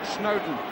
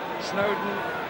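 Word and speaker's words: Snodin: But he chose Everton in Snowdon. That's how it's pronounced, although it's spelled S-N-O-D-I-N. Snowdon, as in Lord and Mountain, was the way it was put to me.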